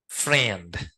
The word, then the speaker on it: friend: có mà đúng không Nhưng tiếng Anh nó phát âm ngắn hơn e tất cả đọc ed s friend bất kể là cái cách viết Nó có thể là âm i âm e chữ e chữ gì đó nhưng tất cả những chữ này phần nguyên nâm nó đọc là E đừng hỏi trời